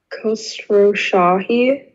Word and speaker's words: Khosrowshahi: CEO, I don't know how to pronounce his name. Dara says. Khosrowshahi. Khosrowshahi?